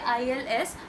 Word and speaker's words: ils: and since it's plural, we say ILS, but we do not pronounce the S.